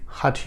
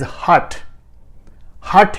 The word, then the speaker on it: hatha: include physical postures and or breathing techniques is hatha yoga irrespective of style or brand name so